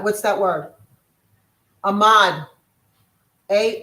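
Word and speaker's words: amad: Ahmad. Can you spell it for me, Michelle? Yep. A M A D. Ahmad.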